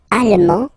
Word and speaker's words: allemand: L'Allemagne, allemand, allemande, okay, same thing here. Okay, you don't pronounce the final D, but then you pronounce it here for the feminine form.